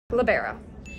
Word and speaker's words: libero: Libero. Libero. Libero. Libero. Libero. Libero. Libero. Libero. Libero. That's the proper way to say it in Europe. That's where it came from.